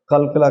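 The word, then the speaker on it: قُلْ: कुल का कौफ हलक से आएगा। हुवल्लाह, अल्लाह को पुर पढ़ेंगे। अहद पर कलकला करेंगे क्योंकि दाल को साइलेंट पढ़ रहे हैं, साकिन हो गया।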